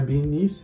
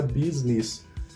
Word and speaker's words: business: Mas não é beanies, vou falar business.